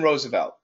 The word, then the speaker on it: Roosevelt: Now, lots of people, yes, we see 2 O's, so we want to say Roosevelt, but actually the pronunciation is Roosevelt. Franklin Roosevelt.